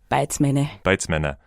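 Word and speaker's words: Beizmenne: And then there's this thing, it's kind of early in the novel where is it Beitzmann? I'm just going to ask for pronunciation. Beitzmänner.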